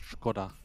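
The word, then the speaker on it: Škoda: Actually, it's pronounced Skoda. Not for those of us that are common. It is a Czech brand, so it actually has the sh in front.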